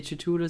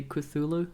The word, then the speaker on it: Cthulhu: I think some people say Cthulhu, some say Cthulhu. I think Cthulhu is the right one.